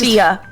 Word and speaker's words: Fiadh: It's Fiadh. just Fiadh. I'm an idiot and I can't speak even English, so please don't. Just pretend F-I-A, because the D-H is silent. Okay. F-I-A, Fiadh. Fiadh.